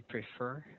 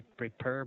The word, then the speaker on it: prefer: It should be prefer. Okay. mm, Your letter F, it should be pronounced properly. Okay. okay. Prefer. All right. So practice that word, please. Mhm. Okay, it should not be prepare, but it should be prefer.